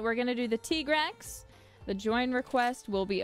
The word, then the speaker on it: Tigrex: It is pronounced T-Grex, right? I feel like that's the only way I've ever heard it said. But I think if you want to say Tigrex, that's fine too.